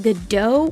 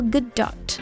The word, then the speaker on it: Gadot: to be heard too most people think the t at the end of her name is silent but it isn't it should be said